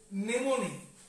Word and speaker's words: mnemonic: এটার মানে হচ্ছে নেমোনিক। এমটা সাইলেন্ট, উচ্চারণ হয় না।